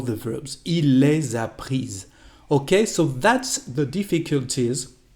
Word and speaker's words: prises: agreement to add es, and the pronunciation is different. Il les a prises.